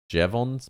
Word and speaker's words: Jevons: increase in efficiency, a phenomenon known as the Jevons paradox.